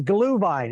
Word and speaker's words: Glühwein: It's Glühwein. It's spelled G-H-L, umlaut U.